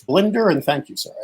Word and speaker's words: Blinder: pronouncing my name correctly ever since i was six i was called blinder so when i was a disc jockey i changed my name to my first and middle name because it was always getting mispronounced now now i it's blender and thank you sir